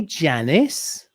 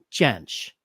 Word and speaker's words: Jansch: passed away though until did you say janice janich how do you say it i gotta watch who jamsh okay everybody listening let's try it all together now bert chanch bert yes i'm sorry